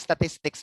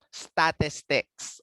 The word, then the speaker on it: statistic: Okay, sa mga nagsagot ng statistics, mali agad. Wala tayong class, hindi tayo statistics. Ay, mali ang pronunciation ko. Hindi ito siya statistics. Okay? Statistic. Wala siyang S sa dulo.